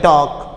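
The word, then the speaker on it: talk: इस तरह हम कहते हैं टॉक, TAK, क्या T है, एल के, तो एल की आवाज़ नहीं आएगी। ये क्या है, हमारे पास साइलेंट लेटर है, क्या है, हमारे पास साइलेंट लेटर है।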